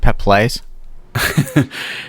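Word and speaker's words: Peeples: Wilson Judson Mills in Nia peoples that's uh that's pronounced pep plays and they're going to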